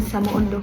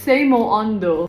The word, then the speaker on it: samoondoh: Gift from Samo Ondo. Sorry, it's Seimo Ondo.